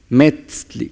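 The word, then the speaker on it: metztli: Metzli, como si tuviera acento.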